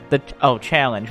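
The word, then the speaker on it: Challonge: Challenge. Well, I've always said it like challenge. It's challenge, but spelled with an O.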